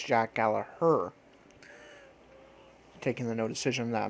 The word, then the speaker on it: Gallagher: in that match and Jack Gallagher I'm sorry I got I've been pronouncing it wrong I learned on TV is not pronounce how it is spell it is Jack Gallaher taking the no decision